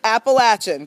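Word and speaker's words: Appalachian: you really say it it's appalachin cuz you'll throw an Apple at you if you don't say it right right yes we will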